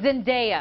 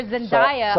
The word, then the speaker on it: Zendaya: their kids so here's the correct way to pronounce her last her first name Zena Zena and and and that's okay Paul because I had been calling her Zenia up can apologize sorry that's okay is long